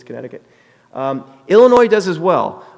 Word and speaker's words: Connecticut: I think I said it wrong at the beginning. It's Connecticut.